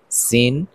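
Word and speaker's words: س: দুই দাঁতের পেট ও আগার সঙ্গে লাগাইয়া যা সিন একই মাখরাজ একই মাখরাজের শব্দ সিন সিন সিন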